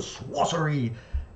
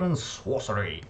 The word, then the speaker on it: Sworcery: at tonight's work the sword and swatter e EP I've said it wrong again welcome to super brothers sword & Sworcery EP my name is atomic